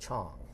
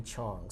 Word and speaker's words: Chang: the way, you know, in Korea and China, it's actually pronounced Chang, you know, so I am going to change my name and pronunciation, because everyone is supposed to be Chong.